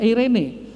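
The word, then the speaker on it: εἰρήνη: Eirene, saudara, eirene. Bacanya eirene, saudara. Itu eirene.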